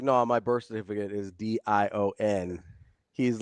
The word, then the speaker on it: Deion: So how do you say Dion's name?